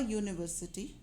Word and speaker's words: university: say unicity the so the first sound is of unicity's y sound which is a consonant sound so we say a